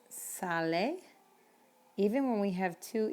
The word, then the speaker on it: sale: So in Spanish, you don't have the concept of a silent E like you do in English. So you're going to pronounce the E. Remember, the E is A in Spanish. So when we pronounce this word, it's sale.